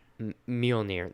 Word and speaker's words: Mjolnir: Mjolnir.